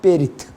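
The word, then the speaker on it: בְּרִית: 히브리어의 언약, 커베넌트라는 말은 히브리 발음은 베리트라고 말합니다. 베리트.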